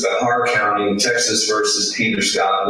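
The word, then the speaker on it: Bexar: I said you were saying Bahar. Is that spelled B E S A R? Yes, that's my understanding of the proper pronunci pronunciation, sir. That's right. So, that would be the Spanish pronunciation, right?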